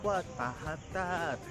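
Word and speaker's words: Wat Mahathat: Ang bigkas nila dito ay What Mahatat!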